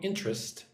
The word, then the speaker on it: interest: When I say that word, I say it like two syllables. Interest. I do not say interest. Interest.